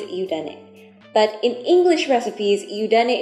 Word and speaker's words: Yudane: Yudane and Tangzhong are simply the same characters pronounced differently in different languages. In Chinese, Tangzhong, and in Japanese, Yudane.